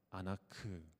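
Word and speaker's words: אנך: 이 다림줄이라는 이 히브리어 단어를 보면 아나크라고 합니다. 그런데 신음하다, 슬피 울다라는 이 히브리어 단어를 보면 아나흐라고 합니다. 그러니까 이 두 단어의 발음이 굉장히 비슷하죠.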